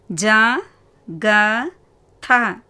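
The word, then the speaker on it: जगत: மூன்றாவது ஜ க த. ஃபஸ்ட் எழுத்து ஜ, இரண்டாவது எழுத்து க, மூன்றாவது எழுத்து த. த வந்து வியஞ்சன். ஸோ எப்படி ப்ரொனவுன்ஸ் பண்ணுவீங்க? இத். ஜ க த, ஜகத்.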